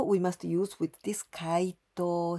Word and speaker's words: 解答: explain the difficult matters 回答します this other verb 解答します so the same pronounciation and same intonation 回答します diff